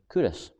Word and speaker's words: Culross: video that uh kurosh has spelled c-u-l-r-o-s and pronounced kurus as in see the law ross um the